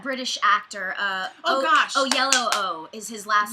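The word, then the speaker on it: Oyelowo: a lot of things and he's incredible but oh yellow oh is how you pronounce his last name i looked it up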